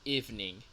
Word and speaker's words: evening: De hecho, la palabra noche sé que se ve como que tiene tres sílabas, pero en realidad tiene dos. ¿Ok? La primera es eve y la segunda ning. ¿Ok?